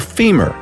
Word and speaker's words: femur: By the way, the strongest bone by all accounts is the femur, rhymes with lemur.